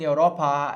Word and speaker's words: Europa: Ao invés de dizer Itália in Europa est, eu digo Itália in Europa est. Eu tenho um tempo a mais aqui na fala, né? na pronúncia aqui dessa palavra, quando ela está no caso ablativo.